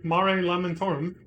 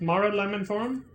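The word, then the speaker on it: Mare Lamentorum: uh said it once mara lemon form it's not marie it's mara like it's weird oh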